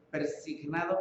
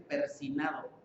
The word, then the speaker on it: persignado: Persignado, bueno, ni siquiera lo pronuncian bien, ¿no? Dicen persinado, pero ni siquiera así se pronuncia. Bueno, son ignorantes, ¿no? Persinado, que debe decir persignado.